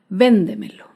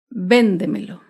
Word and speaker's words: véndemelo: Por ejemplo, la palabra véndemelo. Véndemelo se acentúa en la sílaba anterior a la antepenúltima sílaba. Véndemelo.